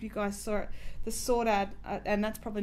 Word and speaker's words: Saudade: That colourful hat that I did, I'm not sure if you guys saw it, the Saudade, and that's probably not how you say it, the Saudade hat, S-A-U-D-A-D-E, that I did in the sort of the greeny colours.